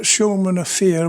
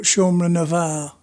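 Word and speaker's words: Seomra na bhFear: It's not Siomra na Fear, but Siomra na Var. So the F is stuck with a H and it's pronounced as a V.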